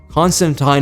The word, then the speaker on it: Constantine: And what makes Constantine, or Constantine, I remembered, Constantine is a proper way to say it, I fact-checked, I know.